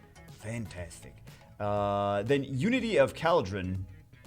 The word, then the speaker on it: Khaldrun: then unity of caldron oh is it like cauldron i think it's supposed to be pronounced cauldron i just figured that out well the death note just came out and it's not like i was thinking about this for like two weeks uh yeah i think that's supposed to be pronounced cauldron as a joke like cauldron like the big pot that witches cook the witch stupid uh i